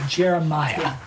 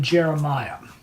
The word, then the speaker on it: Jeremiah: So tonight we're going to learn about Jeremiah. And his name is actually pronounced Yirmiyah. Yirmiyah? Yeah, it's like Yirmeyah. Yirmiyah.